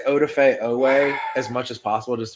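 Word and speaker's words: Odafe Oweh: I'm just going to say Odafe Owe as much as possible just to prove that I can pronounce it correctly.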